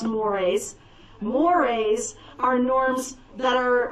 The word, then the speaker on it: mores: looks like the word is morse but it's pronounced mores moires are norms that are uh specific to